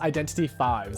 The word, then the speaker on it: Identity V: It's pronounced Identity 5. The V stands for 5.